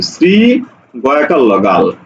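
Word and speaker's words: শৃগাল: শ্লোক উচ্চারণ হবে দেখো শ্রীগাল তালব্য স এর সাথে কি আছে ঋকার তাহলে এই জায়গাতে তখন তালব্য সটা দন্তস উচ্চারণ হবে শ্রী গ আকার ল গাল দেখো আস্থা দন্তস এর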